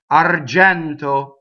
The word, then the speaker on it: argento: Argento, silver, right? Open E in the middle. Notice the N. Argento, closed O.